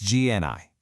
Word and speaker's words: GENII: It's GNI and you pronounce it just like Genie.